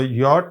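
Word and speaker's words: yacht: जैसे आप देखेंगे कि योट ये कश्ती को कहते हैं तो योट में आप देखें योट में जी नहीं है सी है और ब्रॉस्ट में यहां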